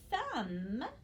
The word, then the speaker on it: thumb: a consonant sound and this is the first example of our other silent letter which is that mb so the word thumb is written i kind of